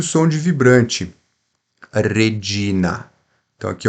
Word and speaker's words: Regina: Regina. Não é regi, como se fosse um J, não, é G. Regina.